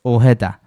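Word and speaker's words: Ojeda: 알렉스 오헤다 익스트림 여행 콘텐츠 제작자에 가깝습니다. 미친 높이의 워터 슬라이드를 생각해 보시면 되고요. 아실 수도 있지만 오헤다는 스페인어 이름으로 J가 H로 발음되어 오해다로 발음하시는 걸 알려 드립니다.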